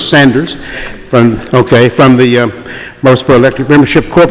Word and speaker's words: Sanders: Is it Sanders? Not Saunders, Sanders.